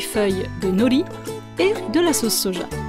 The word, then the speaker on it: nori: Donc là on va utiliser en fait des feuilles d'algues qu'on appelle aussi du nori, ou nori en prononciation française.